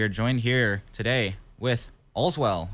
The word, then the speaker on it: Olswel: joined here today with Olswel, or how do you pronounce it? Yeah, that's good. Okay. Allswell. Yeah. Whatever you want to say, to be honest.